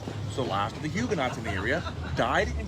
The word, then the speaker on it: Huguenot: The term Huguenot is actually pronounced Huguenot because it's a French word, the T at the end is silent, but Americans never pronounce anything correctly.